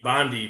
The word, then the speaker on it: Bonde: o n d e so sound out the E Bondi bond with an E gotcha very cool um